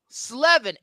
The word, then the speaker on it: Slevin: Slevin. S-L-E-V-I-N. Oh. I Yeah. thought you were mispronouncing it.